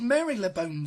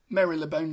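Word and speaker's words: Marylebone: you thank you so this is Mary lebone station except of course it's not actually pronounced like that Mary labone station again is in the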